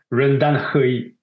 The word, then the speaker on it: RenDanHeYi: Rendan Hui. C'est un phonème qu'on maîtrise mal.